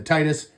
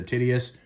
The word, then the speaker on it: Tityus: It is spelled Tityus, so I believe it's the Titus, otherwise it's the Tityus. However you want to say it, doesn't really matter.